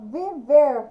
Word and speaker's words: viver: Ela é oxítona, viver, no ver, número 1.